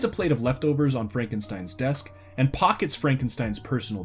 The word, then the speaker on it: Frankenstein: a man named Frankenstein my name it's pronounced Frankenstein on the Upper Floor is Sarah although it